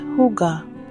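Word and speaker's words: hygge: have a unique concept called Hig pronounced Huga it's about finding Comfort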